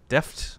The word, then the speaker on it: Deft: plus one to deafness you kind of pronounce it like deafness that's really Deft like with the T because it is confusing